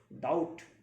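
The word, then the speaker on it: doubt: राम कर्ज में है डेट मींस होता है कर्ज बी साइलेंट है दोनों में डाउट डेट बी साइलेंट रहता है ध्यान रखिएगा आई एम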